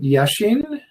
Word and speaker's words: Yashin: All right, is it Yashin? Yeah, that's correct pronunciation.